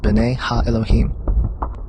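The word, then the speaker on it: בני האלהים: of god mentioned here in the hebrew is pronounced binay ha elohim they are clearly describing fallen angels we know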